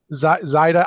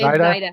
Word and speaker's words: Zaida: So guys, get to know your account executive, Shannon and her mother, Zaida. I always say your name wrong. It's Zaida. You got it.